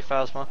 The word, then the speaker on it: Phasma: phasma stud we're possible however you say I say phasma just pronounce it the way it looks like it's spelled phasma okay they were taking